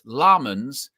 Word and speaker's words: Lammens: and he's saying that it's lmon's emphasis on the first syllable so senna lmans which even the